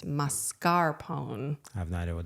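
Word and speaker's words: mascarpone: been pronouncing it wrong it's not marscapone it's masarone I have no idea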